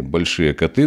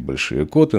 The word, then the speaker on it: Большие Коты: замечательном месте в деревне большие коты ну как говорят историки и летописцы правильно говорить большие коты Но для нас с детства это были большие коты коты нам как-то ближе вот а на Байкале